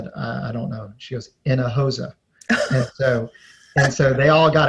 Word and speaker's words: Hinojosa: and i would say how do you say my name where do you get water from in a in a hosa right oh my god it's not quite in a hose but it's in a hosa and that's how the h is silent the j is like an h oh my god i've